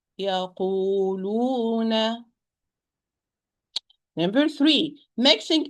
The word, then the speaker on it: يقولون: Do not exaggerate. Oh, not oh wrong. Oh, wrong. It's oh. So يقولون. It's يقولون.